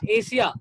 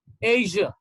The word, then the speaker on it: Asia: russia russia russia and this is not asia this is called asia asia asia okay this